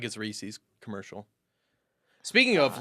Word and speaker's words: Reese's: would it be Reis I have never heard SES pronounced sis it's Reese's s i Reese's yeah exactly re it's not Rees that's what I'm getting at it's not rees's pieces well it's not reesus either yes it is yes